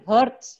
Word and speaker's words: hertz: Ya, hertz. Bukan tapi hertz ya.